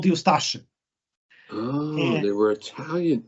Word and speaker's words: Ustaše: Well, I would pronounce it Ustaše, but I don't Ustaše. think it will work. Ustaše, it's a Serbo-Croatian word. It's not supposed to be pronounced easily. It's supposed to be difficult.